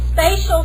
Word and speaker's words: spatial: one is spatial and spatial sounds like the word space it's okay it's location-based